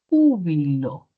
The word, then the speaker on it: júbilo: Como aquí la palabra, por ejemplo, júbilo, ¿cierto? Sílaba tónica. U bilob, sílaba átona. Sílaba átona. Pero si muevo esa sílaba tónica a otra posición, puedo obtener otro valor significativo. Entonces podría tener jubiló.